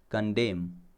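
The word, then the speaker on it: condemn: फिर है अपना कंडेम, इसमें है ना एन साइलेंट है, ठीक है, तो कंडेम यहाँ पे रुक जाना। जैसे कॉलम, कॉलम लिखते हैं ना तो लास्ट में एन आता है, वो भी साइलेंट होता है, ठीक है।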